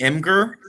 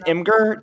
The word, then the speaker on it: Imgur: i that's not part of the question maybe inger no five huh okay or is it that old say say that say that is it's pronounced imgur jeff i'll accept that answer okay cool but